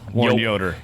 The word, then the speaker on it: Yoder: how do you say your last name yoder yoder yoder and known as w yes dub dub